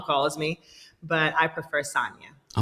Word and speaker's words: Sanya: calls me Sanya, but I prefer and have always gone by since I've been in America, Sanya, the soft A, because I think that a lot of Americans, when they try to say Sanya, say Sanya. I don't like that pronunciation..